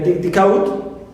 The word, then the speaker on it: decode: Also, I have the word decode. Clear? Decode. D also is neutral, and code is stressed, as usual.